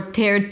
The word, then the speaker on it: third: It's not tiered party or third party. Third party. Third. Bring the tongue up for the th and pull it in immediately for the r. There is no vowel in the middle.